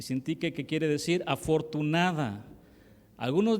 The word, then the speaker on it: Síntique: Yo tengo problemas con las graves, esdrújulas, sobreesdrújulas, y ayúdenme, ¿cómo se dice? Síntique. Evodia y Síntique.